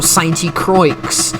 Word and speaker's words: Sainte-Croix: smokescreen suncoa action or saint croix uh more correctly pronounced we stay with the